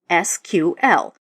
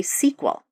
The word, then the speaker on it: SQL: we've covered so far first off it's formally pronounced SQL although some people say SQL while the acronym stands for structured query language